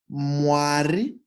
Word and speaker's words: Mwari: So, paying particular attention to the two hardest pronunciation compounds in this sentence - Mmm-waari Mmm-waari That is Mmm-waari vanochengeta.